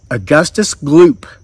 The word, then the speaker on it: Augustus Gloop: Augustus Gloop was gluttony. He's either eating or thinking about eating, and his name rhymes with poop, because that's what you do when you eat.